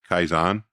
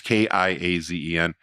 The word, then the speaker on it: Kaizen: Every single day I need to get, the Japanese have a thing, and I think it's pronounced Kaizen. I don't know if it's pronounced, it's Kiazen. But it's about getting 1% or an increment better at everything you do every single day.